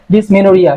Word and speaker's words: Dysmenorrhoea: হচ্ছে সেটাকে ওরিয়া বলি, ডিসমেনোরিয়া। হইয়া লেখা থাকে কিন্তু উচ্চারণ হবে এটা ডবল আর ও এইচ ও ই এ, ডিসমেনোরিয়া।